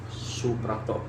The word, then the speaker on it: Suprapto: Nama lengkap saya Suprapto. Jadi ejaan lama SOE jadi Soe. Soe Karno. Nah, Soe jadi Soe Prapto, kan OE jadi U kan.